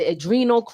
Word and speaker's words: Adrenochrome: Adrenochrome.